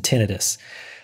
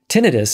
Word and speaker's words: tinnitus: Tinnitus is spelled I-T-U-S. It's not an itis, in other words. And in fact, inflammation is not generally associated with tinnitus.